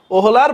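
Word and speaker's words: Wöhler: Friedrich ভোলার এই দেখো ফ্রেডরিক ওহোলার বা উচ্চারণটা হচ্ছে ভোলার ডব্লিউ এইচ ও উচ্চারণ হচ্ছে ভোলার হ্যাঁ ওহোলার ওহোলার বা ভোলার যাই বলো ফ্রেডরিক ভোলার ওকে রাজশাহী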